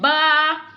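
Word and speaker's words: ب: And ba. Ba, Yes, pronounce from the wet part of both lips.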